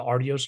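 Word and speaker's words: Artios: since 1985 with the Aros Awards am I pronouncing that correctly is it the arios awards yes the arios awards now there are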